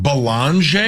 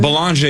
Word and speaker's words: Beringer: our guy's name is pronounced with an L, like Belanger. Wow, really? There's no L in there. This is getting confusing. How the hell do you say this kid's name? Belanger?